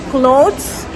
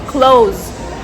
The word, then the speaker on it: clothes: So don't be confused if you ever hear any native speakers say close for talking about their tire. It is the same pronunciation as close like close the window, close the door.